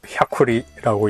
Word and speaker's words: 햐쿠리: 샤쿠리는 백리라고 쓰고 샤쿠리라고 읽는 그런 이름이죠.